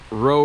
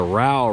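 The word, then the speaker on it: Row River: is the inflow water from the roe river or as they pronounce it down here the rowell river it comes in from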